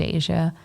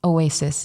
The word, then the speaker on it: Asia: name I feel like as someone who's named Asia and people say my name in this craziest ways Oasis Dasha and I'm like does